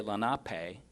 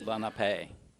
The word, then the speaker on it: Lenape: The natives didn't have syllables. They didn't use syllables and accents. So where we might say Lenape, well, that doesn't make sense because the pay is an accent. And so it's Lenape, and it's just almost one word.